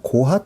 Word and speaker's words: 고핫: 그래서 우리가 게르손, 고핫, 무라리 이렇게 발음이 되기도 하죠.